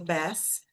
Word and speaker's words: best: her most, her most lembrando lá do best que a gente viu best a gente não fala o t, best friend, best most, mais,